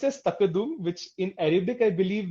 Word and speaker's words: tqdm: this package called tqdm so uh it is pronounced as takadum which in Arabic I believe means uh it